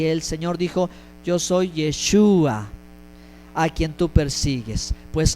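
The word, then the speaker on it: ישוע: y en esta conversación fue pronunciado en esta manera yeshua en el hebreo de acuerdo por eso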